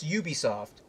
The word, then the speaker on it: Ubisoft: I've said this previously, but in my opinion, the people at Ubisoft, I'm sorry, what is it actually pronounced? It's Ubisoft? It's Ubisoft.